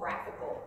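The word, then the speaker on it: GraphiQL: What I like about this, and I want to show you this little feature, it's called Graphical. It's spelled GraphQL, which is kind of weird.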